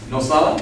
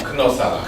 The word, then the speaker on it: Knosala: And your last name is pronounced Nosala? Knosala.